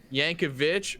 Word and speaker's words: Yankovic: Yankovic rhymes with bitch.